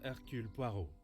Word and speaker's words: Hercule Poirot: I am Officer Hercule Poirot. And that's how you pronounce it in the actual Belgian accent.